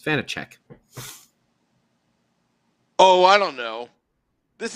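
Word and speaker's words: Vaněček: It's Vanacek. Oh, I don't know. This is a podcast where we mutilate names. We just slaughter names over and over again. I think it's Vanacek.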